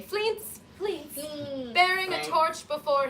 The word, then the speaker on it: Fleance: Enter Banquo and it's pronounced Fleance, but I really like to say Fleance, Please.